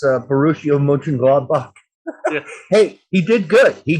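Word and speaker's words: Mönchengladbach: i i thought that he said more along lines of back than bach which is i know nitpicky yeah it's i think that's the brazilian thing coming out there that's how they would do that with a b-a-c-h maybe uh like the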